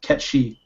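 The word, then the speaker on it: Cait Sith: Ketchi is how Kate Sith is pronounced.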